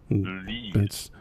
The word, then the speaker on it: lees: and I'm thinking, wow, Lees. they have a problem. Maybe I'm pronouncing it wrong, really wrong. No, it sounds like it would be pronounced that way. So, yeah. Lees. Kind of like bees, but what the hell?